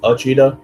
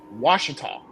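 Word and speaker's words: Ouachita: I swear to God, if the O and U is silent, it's just Uchita, I'm gonna fucking fight you.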